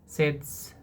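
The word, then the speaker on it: tsetse: तो अह सेट्स फ्लाई सेड्स फ़्लाई अह सेट्स फ्लाई के काटने से होता है टी साइलेंट।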